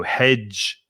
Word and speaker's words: hedge: d in hedge silent it's the d g christine that gives the ju sound in many words like in january july jump jealous that j sound and it's the same in judge for example that dg so hedge judge and there are a few